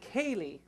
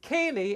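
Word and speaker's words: ceilidh: c i l i d h which is pronounced Kaye though you might not have guessed that by the spelling it's pronounced it's Kaye and it means traditionally a visit now modern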